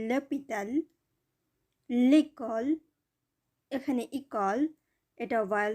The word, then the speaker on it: l'hôpital: l'arbre, l'animal l'hôpital এখানে হসপিটাল silent H দ্বারা শুরু হয়েছে যার কারণে এখানে ল ব্যবহার হয়েছে, l'hôpital, l'école এখানে ইকল এটা